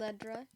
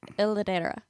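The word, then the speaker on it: L'edera: The- Ledra. No, it's like I looked at the pronunciation. It's like Ladera.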